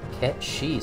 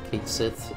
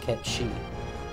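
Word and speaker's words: Cait Sith: it's supposed to be pronounced Ket She, since it's Irish. Oh, I did not realize that. Kate Sith is Ket She.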